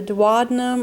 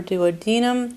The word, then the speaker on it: duodenum: So we have the duodenum or duodenum. Remember, pronunciations vary on this.